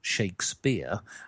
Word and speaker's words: Shakespeare: So, we actually pronounce it William Shakespeare.